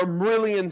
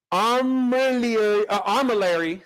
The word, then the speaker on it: armillary: Let me pronounce that right. That'll be that one comment that keeps filling the thread. You didn't pronounce it right. Still not getting it, huh? Armillary, there it is, armillary sphere.